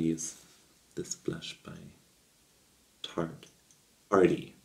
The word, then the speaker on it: Paaarty: Arty. Spelled with three A's.